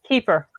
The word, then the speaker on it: Kiefer: Keith Sutherland. Kiefer. Kiefer Sutherland. I always get his first name wrong.